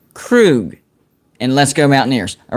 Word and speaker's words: Krug: He says, for the record, my last name is pronounced Krug.